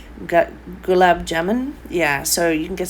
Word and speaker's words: Gulab jamun: Now I think these are galam, the same as the galam jalam. I'm not going to pronounce that correctly. Gulab jamun.